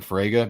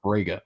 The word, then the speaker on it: Fraga: brain wrapped around saying Fraga because the sound is so foreign to me when I found out it was actually pronounced frega because I think of